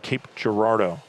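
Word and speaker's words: Cape Girardeau: Just about an hour and a half drive south of Arnold is Southeast Missouri State located in I believe how it's pronounced Cape Gerardo, Missouri.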